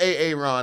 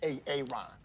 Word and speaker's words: Aaron: you say it the first time I said A-A-Ron? Because it's pronounced Aaron. Son of a I love the word jokes cuz I'm dyslexic, so I get it. It is A-A-Ron.